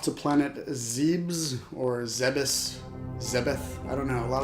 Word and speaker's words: Zebes: Unfortunately, I think the correct pronunciation is Zebes, which isn't as creepy.